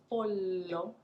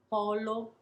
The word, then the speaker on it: pollo: in the word polo polo with one el polo is the pole like the north pole polo is a chicken so how do we mark that distinction lingering on that l polo now i'm exaggerating of